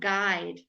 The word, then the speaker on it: guide: sure exactly the same sound guide what greet guide alright we don't ever say GU GU okay so you can know that that's eliminated from your pronunciation now guide quite right